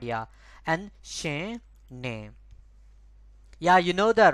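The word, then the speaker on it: နင်: it's going to be ne. This is N, I, N. The N is a bit soft, right? You see, we don't pronounce, we don't stress on that, right? Just ne.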